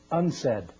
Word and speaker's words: UNCED: It is pronounced UNCED, and perhaps indicating the secret agenda of this meeting.